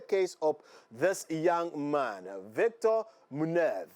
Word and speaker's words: Víctor Muñoz: And that was what happened actually in the case of this young man, Víctor Muñoz. So in the Spanish way, that's how his name is pronounced.